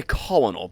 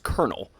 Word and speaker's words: colonel: Lieutenant I always want to say colonal because that's how it looks. But it's pronounced colonel.